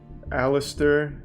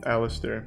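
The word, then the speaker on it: Aleister: him at the end it's pronounced aliser not alist Alistair okay thanks for your sub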